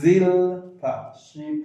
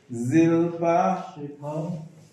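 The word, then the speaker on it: Zilpah: Bnei Zilpa. Ziz. Can you make the sound Z? Zilpa.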